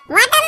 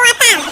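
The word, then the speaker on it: water: ওয়াটার না, এটা ওয়াটার। ওয়াটার। জি স্যার। জিহ্বার আগে সামনের দুই দাঁতের সাথে লাগবে।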